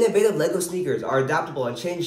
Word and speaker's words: Laygo: go ahead take your first steps it's pronounced Lego see the customers love it laughs our